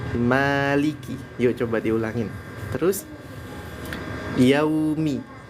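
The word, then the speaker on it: يَوْمِ: yuk Coba diulangin terus yaumi ke arah Suara u ya yaumi jangan Yao bukan Yao tapi yau yau ke arah suara vokal u ya karena suara vokal u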